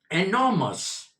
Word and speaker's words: enormous: It is enormous, r is silent, enormous.